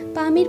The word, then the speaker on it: পামির: জেনে নিন পৃথিবীর ছাদ পামের মালুভূমি সম্পর্কে চারিদিক খাড়া ঢালযুক্ত বিস্তৃত ভূমিকে মালুভূমি বলে পৃথিবীর উচ্চতম মালুভূমির কথা বললে পামির মালুভূমির কথাই মাথায় আসে স্থানীয় ভাষায় এর উচ্চারণ হলো পমির যার অর্থ সূর্যের পা